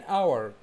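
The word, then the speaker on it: hour: معايا كده في النطق قلت ان اور كلمه ساعه ساعه ساعه الاتش فيها سايلنت فبقول ان اور يبقى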